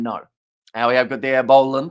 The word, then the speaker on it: Boland: we have got there Boland is how you pronounce very hard to describe it without you physically hearing it say a bowl part very quickly and also we have